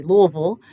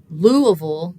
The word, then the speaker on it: Louisville: So in a word like Louisville, the punch is on that first syllable. We'd call that the stressed syllable. The other two are not stressed.